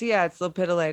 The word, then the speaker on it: lepidolite: Did I say it right? It's lepidolite.